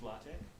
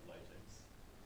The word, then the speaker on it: LaTeX: But because it's developed by a German guy, the way you pronounce it is using the Latin, and so the X is pronounced as chi from Latin.